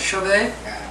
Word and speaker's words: Chauvet: Chauvet?